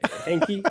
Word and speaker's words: Hankey: Chris Hankey and I said Hankey. Is that I would go with that. Hank? Yeah, Hanky. Yeah, That was the natural pronunciation.